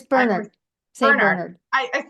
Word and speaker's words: Bernard: It's Bernard, St.